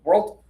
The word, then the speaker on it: world: If you try to do it as one syllable, world world world you might say this one by accident, right? So, go with the two syllable version. It'll be more clear.